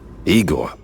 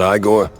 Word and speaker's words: Igor: Igor, not Iiggore.